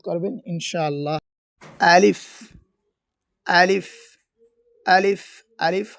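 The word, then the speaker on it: ألف: আলিফ হরফটি খুব দ্রুত উচ্চারণ হবে। এবং এই হরফে কোন টান হবে না।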